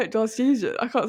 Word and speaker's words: Glaswegian: Glaswegian, not Glasgowian. Yeah, they're all Glasgowian. Should I say that to a Glasgowian person? I'll be like, my family's Glasgowian. I can't say it. Glaswegian.